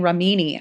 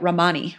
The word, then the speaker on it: Ramani: saying I guess I think I kept saying Remini I don't know why but Romani Romani and my apologies I'd go back and